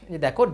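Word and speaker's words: the: যদি কনসোনেন্টের পূর্বে দি আসে তাহলে সেটাকে আমরা বলবো যে দা, তখন দা বলবো।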